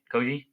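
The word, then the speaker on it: Kyoji: That's how you say it, Koji.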